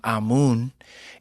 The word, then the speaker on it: Ammoon: So my name Ammoon is a a more ancient pronunciation of the word amen.